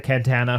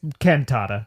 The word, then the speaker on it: cantata: the last of the cantana from a sleeping Winslow. Is it cantana or cantata? It's cantata. Okay. I'm saying it wrong.